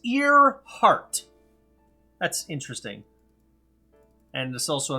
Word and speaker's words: Earhart: it's not to be the Clark oh it's ear heart that's interesting and the salsa Amelia starting with